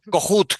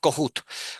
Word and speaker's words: Kohut: Entonces, por ejemplo, Kohut, que te gusta tanto Soledad, Cohut, Kohut, eh, o Kohut, como tú lo quieras, como vosotros lo queráis pronunciar, dependiendo de qué estado seáis.